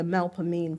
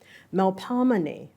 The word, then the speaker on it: Melpomene: in with an O as in body, me with an E that sounds like the I in which. See, I can't even do it, and it's renowned for me. And a concluding long stress syllable, ni, with an E as in we or free.